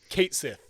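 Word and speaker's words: Cait Sith: pronounce it in the game is drum roll Kate Sith they are going to pronounce it as it is spelled they're gonna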